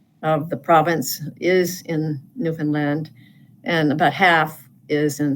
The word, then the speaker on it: Newfoundland: Okay, Newfoundland. Well, it's not Newfoundland, it's Newfoundland. Newfoundland. Not Newfoundland.